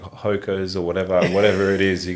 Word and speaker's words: Hoka: it's Hoka, Hoka, actually.